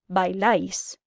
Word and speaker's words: bailáis: AR verbs get an AIS ending, pronounced ice. ER verbs get an EIS ending, pronounced ace. And IR verbs get just an IS ending, pronounced is.